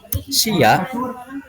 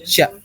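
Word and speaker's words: しゃ: Jadi di sini kita bukan Shia ya, bukan Shia, tapi langsung Sya.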